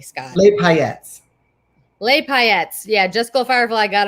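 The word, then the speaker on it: paillettes: do you say it correctly scott hyatts lay payettes yeah just go firefly got him before they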